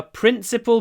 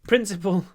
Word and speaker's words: principal: So, principal, interesting word because you could say these are our principal principles. Наши главные принципы. Principle, they're pronounced the same, but this one means главные, this one means принципы.